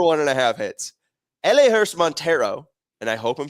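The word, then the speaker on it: Elehuris: I got this right it's El Laurice elaris Montero my bad uh from the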